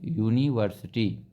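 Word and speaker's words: university: लगेगा इसी तरीके से यूनिवर्सिटी यहां पर यू इसका उच्चारण क्या हो रहा यू यह हिंदी वाला तो यहां पर यूनिवर्सिटी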